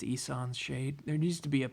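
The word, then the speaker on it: Ihsan's Shade: Of course, when I was a kid, I would call it Ishan Shade, but I think it's Isan's Shade.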